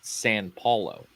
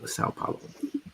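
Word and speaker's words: São Paulo: I was with somebody this weekend that said San Paulo. San Paulo. Sao Paulo.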